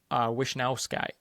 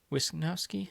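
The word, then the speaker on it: Wishnowsky: Brandon Cooks, Joey Bosa, Shaq Thompson, Trey White, Jordan Puyer, Matt Prader, Mitch Wisnowski or Wishnowski. Wisnowski. Yeah, I said it right the first time.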